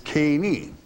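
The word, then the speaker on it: קֵינִי: I want to pull up on the screen, if I may, the word Kenites as it is pronounced in the Hebrew tongue before the translation. And it is Keni.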